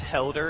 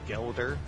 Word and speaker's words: Helder: realize your video that it's helder instead of gelder so now i i